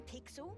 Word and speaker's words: Pixel: not weird guy I'm pixel it's easy to remember because it rhymes with pickle does I'm Foster I'll